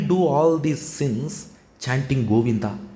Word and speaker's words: Govinda: Bhagavan's name Goinda. It has three syllables in Sanskrit. Goinda. Three syllables. In English spelling different, Tamil spelling different. Then somebody will ask in YouTube, sir, you said three syllable Govinda. But I wrote G O V I N D A. It has seven letter in Sanskrit. It has three syllables. So this Rishi, he taught